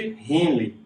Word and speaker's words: Henle: Essa parte de baixo aqui, ó, ela é chamada de cápsula de Henle, ou Henle, sei lá, que tem um H aí no meio, né?